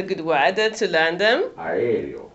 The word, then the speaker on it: aereo: Aereo. Aereo.